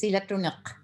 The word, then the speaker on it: Silatuniq: And that is, help me pronounce it, Sila Tunik. Yes, Silatunuk.